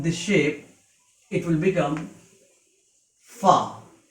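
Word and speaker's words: فاء: If you put one dot upon this shape, it will become fa. Its pronunciation in English is F-A-A, fa. It is a light letter, so it can be pronounced easily.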